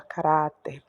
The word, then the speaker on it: caráter: Então, você vem e acentua aqui na sílaba tônica, que é o R e o A, caráter.